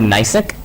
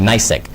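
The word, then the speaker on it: Gneiss: probably say, let's say for example the word Nysic.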